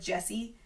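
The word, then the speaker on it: Djesse: room which is called Jesse it's you say it like Jesse but it's djess e and Jesse as a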